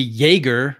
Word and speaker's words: Jaeger: But in reality, really, we should all actually be pronouncing it Jaeger. And so every time I say Jaeger le Coutre, I am sort of technically wrong. I mean, the guy was Swiss German, or certainly of German descent, and it would have